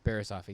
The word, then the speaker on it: Barriss Offee: Yeah, Barriss Offee.